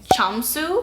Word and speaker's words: Jamsu: this name again but I believe you pronounce it as chamu my friend who is